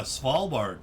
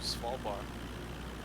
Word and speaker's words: Svalbard: places oh see if we can find a svalbard check out svalbard what that looks like how do you spell it s-v-a-l-b-a-r-d svalbar svalbard yeah it's a fun